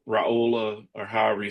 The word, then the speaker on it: Raiola: they don't know the question mark of how Raola or however you say his name is going to be once they take snaps against a really good Michigan defense. Yeah. Raola. Raola. Raiola.